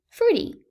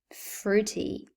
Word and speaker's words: fruity: It's almost always quietly pronounced. For instance, wrestle, fruity.